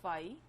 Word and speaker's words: phi: empty set will be with the Greek letter phi. This is PHI phi, इसको इस तरह से pronounce करेंगे और खाली एक curly bracket बना देंगे.